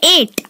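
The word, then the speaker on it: eight: देखिए इसमें जी और एच साइलेंट है, तो मैंने आपको बोला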